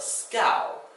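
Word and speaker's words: schouw: The ow sound, if you remember the boat, previously we talked about the boat called a skite. Here you have a boat called a scow. This one is spelled S-C-H-O-U-W.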